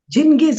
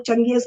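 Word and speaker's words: Genghis: ये कहता है, बाय द आर्म्स ऑफ जिंगिस, इसका अलग अलग उच्चारण है, जिसको हम लोग चंगेज खाते खान कहते हैं, कोई जिंगिस कहता है, कोई कुछ कहता है।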